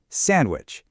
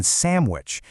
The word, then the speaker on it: sandwich: The D is very often silent, especially when people are talking fast. You'll hear sandwich or even samwich. It just gets smoothed over in natural, everyday conversation.